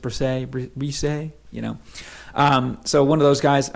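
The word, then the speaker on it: Bresee: Okay, it's spelled Brees, but I guess it's Brisset.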